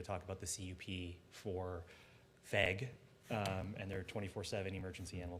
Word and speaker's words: VEG: First, Why don't you call them veg? that's a good question. I feel like veg. But it's not a soft G anyway.